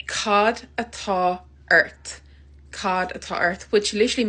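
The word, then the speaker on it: Cad atá ort: say what's wrong in Irish you can say Cod at Earth Cod at Earth which literally means what is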